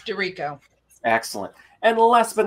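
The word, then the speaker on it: DiRico: under the name maria is it pronounced dorico yes dorico excellent and last but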